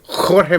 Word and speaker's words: Jorge: All right, then he's George Masvidal. Yeah. Against Nate. But he's George actually But Nate. it's spelled with a J. Hey, Jorge Masvidal.